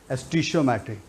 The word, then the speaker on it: stoichiometry: बच्चों ध्यान देना, स्टोइचियोमेट्री मैं लिखता हूं, कई लोग स्टोइचियोमेट्री भी बोलते हैं, बट मैं स्टोइचियोमेट्री बोलता हूं, which is the right pronunciation, स्टोइचियोमेट्री.